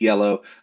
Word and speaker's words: Iello: This is yellow, I E L L, who everybody argues about how to pronounce it.